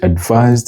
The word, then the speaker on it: advise: Both of them have their stresses on their second syllables.